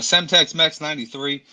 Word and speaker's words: Semtex Mex 93: Yeah, so it's Semtex Mex 93. It's like Semtex, like the grenade, Boom, told you, Jeff. Call of Duty, and then Mex because I'm half Mexican.